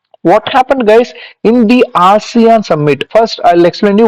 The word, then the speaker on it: ASEAN: See, few people can pronounce it as an Asian, few people can pronounce it as an ASEAN, but the correct pronunciation is ASEAN countries.